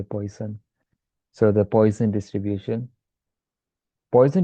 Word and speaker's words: Poisson: Now you have one more type of distribution, which I guess it's French, so it's supposed to be pronounced like Poisson or something. But I speak English, so I'm just going to say Poisson.